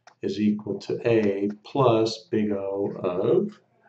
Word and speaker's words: Big O: B subn and again we pronounce this as Big O Okay so again if